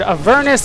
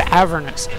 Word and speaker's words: Avernus: The demon and the commander, they pronounced the guy's name two different ways. One said Avernus, the other one said Avernus.